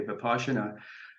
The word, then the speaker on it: Vipassana: So Zen is in the Mahayana school, and there's another meditation practice called Vipassana, spelled Vipassana, but pronounced in the Pali Vipassana.